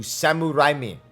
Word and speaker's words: Sam Raimi: Spider-Man trilogy movies was Sam Raimi in Japanese his name is pronounced closer to Samurai me samurai samurai was what